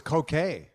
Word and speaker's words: Koh Ker: They have silent R's on the end of things, so it's sort Oh, of grammatically correct to spell it with an R, but the R's are silent, and so it's the same with the language.